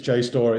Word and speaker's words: JSTOR: Is that JSTOR? JSTOR? Is that how you pronounce it? Have I got that pronunciation right? Yes, it's JSTOR.